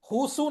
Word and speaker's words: Hsu: Oh, There was a Chinese person who lived in the ashram, Husu naam hai uska, HU space HSU. This is how his name is spelled, okay?